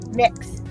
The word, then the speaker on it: Mx: gender honorifics so um m-i-k-s is how it's supposed to be pronounced mix according to google that's how it's pronounced yeah spelled it's pronounced mix um either what yep